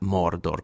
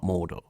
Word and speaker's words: Mordor: You have to say it like that. Mordor cuz Gandalf does, not Mordor.